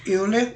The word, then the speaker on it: Euler: Escreve-se Euler em português, mas a pronúncia é Euler.